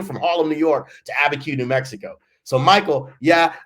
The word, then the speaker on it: Abiquiu: I couldn't even pronounce it, Abquiu. I was like, what? We were from Harlem, New York to Abiquiu, New Mexico.